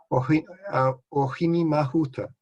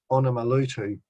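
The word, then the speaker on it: Ōhinemahuta: They heard the Māori name but misheard it and started mispronouncing it. So it's recently been renamed to properly reflect the correct pronunciation. And so this is Ohini Mahuta, but you're probably used to hearing it as Onomaluto.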